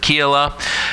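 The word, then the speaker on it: Keilah: I mess up but we're gonna pronounce it keel up and divide the syllable between the E in the I so let's make her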